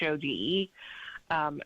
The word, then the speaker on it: Thode: And so it'll be interesting to see what the judge, I think his name is Judge Thode. I think I'm pronouncing that right. It's Chode.